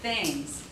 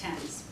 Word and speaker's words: Thames: it's really sent and London's Thames River looks like things but it's tense but that's a very